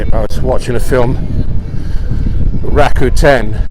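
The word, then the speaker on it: Rakuten: was watching a film Raku 10 have free movies with adverts that's how it's pronounced and they're really good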